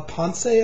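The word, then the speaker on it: Ponce: that I didn't know Manuel pon say I think is how you pronounce it composer I'd never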